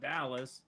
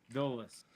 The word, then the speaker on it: Dulles: It's not Dallas. It's Dulles.